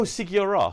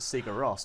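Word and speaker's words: Sigur Rós: B the the big band from I oh sigos yeah yeah sorry so that's so that's how you pronounce the name so the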